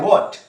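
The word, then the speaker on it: what: यहां लिखा है व्हॉट। डब्ल्यू एच ए टी में एच साइलेंट करके आप बोलेंगे व्हाट व्हाट इज the time please?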